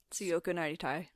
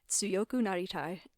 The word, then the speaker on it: Tsuyoku Naritai: So, Alrighty, on to, do you know how to pronounce this? Tsuyoku Naritai. yeah, Do that again? Tsuyoku Naritai.